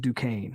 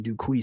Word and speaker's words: Duquesne: do excuse me duquesne it's called pronounced duquesne i keep saying do quiz because that's what it looks like um i don't want